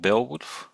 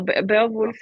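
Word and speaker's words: Beowulf: it was pronounced back then and why it's spelled like this now. So I I just recall that there's there's this poem called bailwood. Is it in that language? Oh yeah. No, Be Wolf is um Old Jackson.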